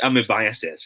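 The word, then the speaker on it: amoebiasis: a smirking face okay it should be pronounced as amibiases if you are to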